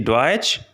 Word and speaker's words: Deutsch: The next letter combination is T, S, C, H, which simply pronounced like CH in English.